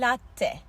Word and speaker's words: latte: frappuccino en sevdiğim çay Latte Latte kelimesi lat lat ve son ifademiz burada